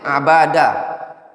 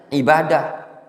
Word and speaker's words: Abadah: Wa Muhammad ibn Abadah. Bisa saja dibacanya ibadah. Ya enggak?